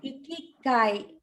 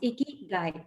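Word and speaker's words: ikigai: make it as people or men or and ikikai was actually uh pronounced wrong it's icky guy okay so i k i g i think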